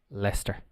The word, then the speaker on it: Leicester: again there we go Leicester and the pronunciation of l-e-i-c-e-s-t-e-r is Lester Leicester Square let's get